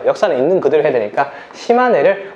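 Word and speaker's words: 島根: 역사는 있는 그대로 해야 되니까 시마네를 웃기게 시네마라고 읽으면 큰일 납니다.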